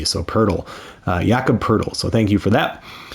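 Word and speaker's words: Jakob Poeltl: pronounced Jakob and then it's like turtle with a p so Pearl uh yakub poodle so thank you for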